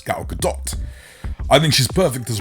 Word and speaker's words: Gal Gadot: ] now gal gadot now i'm saying gal gadot because she likes it pronounced that way yeah gal gadot i was saying gal gadot before because i was trying to sound posh it's not the way it's pronounced it's gal gadot i think she's perfect